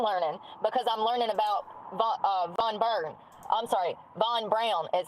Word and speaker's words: Von Braun: I'm learning because I'm learning about Von Braun is how it's pronounced, which is crazy to me.